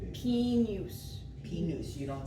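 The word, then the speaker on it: pignus: Pinus. Pinus. Pinus, you don't sound the J. You kind of make it like a Y.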